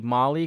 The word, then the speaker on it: MAHLI: But mainly, this is the Mali camera. It's pronounced Mali, but it's MAHLI. It's an acronym, Mars Hand Lens Imager, and it's the most high resolution camera that they have on the rover.